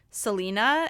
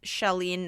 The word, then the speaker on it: Shalene: I pronounced it Selena, and it was Shalene Knight.